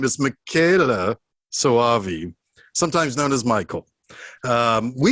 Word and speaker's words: Michele Soavi: screw up what jason told me how to pronounce his name is makayla sawavi sometimes known as michael um we've we've had